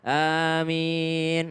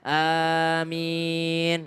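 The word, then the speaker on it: آمين: A-nya 2 harokat, min boleh juga 2 harokat. Boleh juga panjang min. Kenapa? Karena dianggap mat arid lis sukun. Sama seperti alhamdulillahi rabbil alamina. Normalnya karena 2 harokat alamina. Tapi karena dia di akhir menjadi alamin. Panjang dia. Sama dengan aminah. Harusnya, tapi karena di akhir dia menjadi amin.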